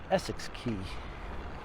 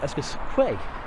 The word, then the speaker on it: Essex Quay: So This was Essex Key. Or as I used to call it when I was younger, Essex Quay. Because that's how you phonetically spell the name.